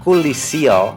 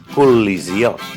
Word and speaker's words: col·lisió: Col·lisió no és correcte, és col·lisió.